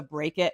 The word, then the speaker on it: B.R.E.A.K.: And you came up with a math intervention framework and break it. So do you say break it, or do you pronounce it B.R.E.A.K?